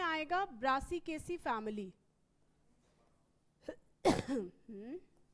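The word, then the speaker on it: Brassicaceae: multiple of four टेट्रामेरिस multiple of four और इसके example में आएगा ब्रासीकेसी फैमिली हम ब्रासीकेसी प्रोनाउंस कर पा रहे हो कि नहीं पहले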